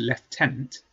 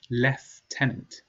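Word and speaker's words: lieutenant: role his position was leftenant he was then promoted to a higher position leftenant Commander notice the pronunciation left tenant Elizabeth says she also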